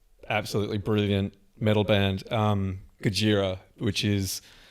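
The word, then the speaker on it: Gojira: is I I love Gajira. So, there's this French very technical but absolutely brilliant metal band um Gajiraa which is the way that Godzilla sounds when it's pronounced in Japanese.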